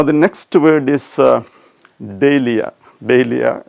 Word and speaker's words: dahlia: DAHLIA, which you usually call DAHLIA. Everybody is familiar with that word which we usually call DAHLIA. Probably the dictionary pronunciation will be DAHLIA.